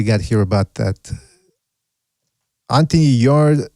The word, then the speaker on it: Yarde: He says, Yarde, the E is silent, not Yarde.